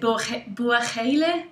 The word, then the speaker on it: Buachaille: When I looked it up, it said Buachaille. I've heard people call it Buachaille.